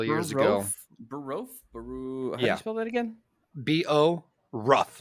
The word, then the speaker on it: Borough: Google city of Boro b-o-r rough it's Bo Ruff it's not spelled like burrow like the boroughs of New York yeah maybe it is